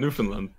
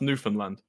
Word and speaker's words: Newfoundland: Well, it's a state of Canada that I can't pronounce either. Newfoundland. What? Newfoundland.